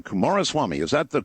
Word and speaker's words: Coomaraswamy: Kumaraswamy, is that the correct way to say Beautiful.